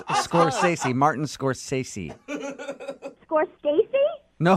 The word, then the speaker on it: Scorsese: Scorsese? It's Scorsese.